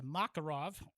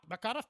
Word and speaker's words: Makarov: Uh, many of us Yanks mispronounce Macarov as a Macakarov, thereby incorrectly placing emphasis on the first syllable instead of the second. Hey, why nitpick? So, um, the Mac Makarov pistol and cartridge were named for the designer one Nikolai Fodor Makarov.